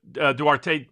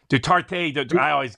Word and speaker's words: Duterte: They united with Duarte, or I'll get his name mispronounced, but Duterte.